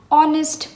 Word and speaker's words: honest: vowel sound our biggest H is silent here similarly an honest man an honorable man